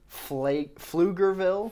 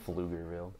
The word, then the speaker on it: Pflugerville: Pflugerville. Pflugerville. The grossest town. It sounds like you're hawking a loogie. Bro, and there's a silent P in that. Yeah, yeah.